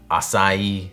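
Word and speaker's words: açaí: Strawberry banana, blueberry, acai. That word always gets me, how it's like almost as many syllables as it is letters. Either way, I'm fixing that leak on my roof when the next idea strikes.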